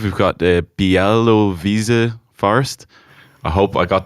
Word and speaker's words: Białowieża: So at number 5, we've got the Białowieża Forest. I hope I got that pronunciation right.